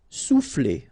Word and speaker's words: souffler: Souffler, okay? O and U will produce OU, sou, souffler.